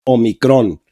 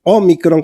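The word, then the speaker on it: ómicron: entendía el español porque yo cuando era joven decíamos omicron y ahora es omicron con acento en la primera o pues aquí tenemos a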